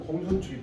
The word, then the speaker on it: 公孫丑: 차로되 부자는 유이위 부족위여이까 이거 축은 아니고 추라고 읽는 공손추기 때문에 공손추가 바로 관중과 안장의 그런 업적을 훌륭하게 일컬어서 말하기.